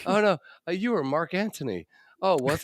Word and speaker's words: Antony: It was pronounced Mark Antony. The H is silent. Like the G in lasagna.